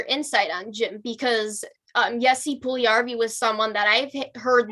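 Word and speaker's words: Puljujärvi: Puljujarvi. It's a fun one. Jesse Puljujarvi.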